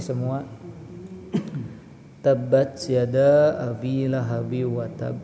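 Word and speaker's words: وتب: Lihat di ba akhir ada tasydid ya. Maka bacanya adalah tasdidkan terlebih dahulu baru qalqalah. Tabbat yada abi lahabi wa tab. Nah, gitu ya. Jadi watab tasdid dulu baru qalqalah.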